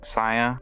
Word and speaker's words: Cya: Her name's Saya. Not like how it's spelled the same as Saya. C-Y-A, maybe?